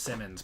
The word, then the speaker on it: Simons: I think it's pronounced Simmons, but it's looks like Simons.